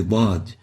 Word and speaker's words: ضاد: find difficulty pronouncing the ضاد, and they usually mispronounce it for the d rather than ض. So they pronounce it like a d instead of the ضاد.